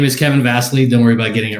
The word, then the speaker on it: Vassily: joining me today uh my name is kevin vasely don't worry about getting it wrong rent that's